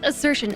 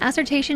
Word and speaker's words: assertion: oh cuz plas steal the word is assertion assertation is adding a whole extra syllable look I said I